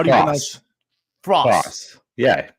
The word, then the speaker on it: Frase: uh so it's Adam how do you FR Fross yeah Fross just like that so I'm confused hold up you got Adam Fross and what's the other word there so I